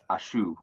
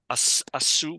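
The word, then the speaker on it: עשו: Hakitsa akata hava'ach alai ashu. Asu with a sin.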